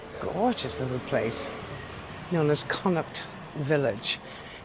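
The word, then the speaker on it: Connaught: This gorgeous little place known as Kuck Village. Now, Kuct is spelled C O N A U G H T. It's actually in Irish. It's one of the provinces of Ireland.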